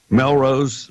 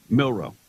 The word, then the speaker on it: Milroe: Melrose. What did you say his name was? Milroe.